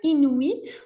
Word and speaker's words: inouï: So here, inouï, when you have the little dots, the umlaut in German, the little dots above the I or any other vowel, that means that we need to separate the preceding syllable before. So we have 3 syllables here, I, nu, I, and you really want to hear them all distinctively, okay?